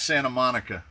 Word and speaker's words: Santa Monica: If you want to pronounce it like a Californian, it's Santa Monica.